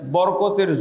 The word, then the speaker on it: বারাকাত: বরকতের যত দরজা আছে সব খুলে দিতাম। বরকত শব্দটা আমরা তো বাংলায় ব্যবহার করি।